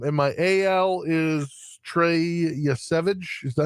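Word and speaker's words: Yesavage: Um, and my AL is Trey Yvage.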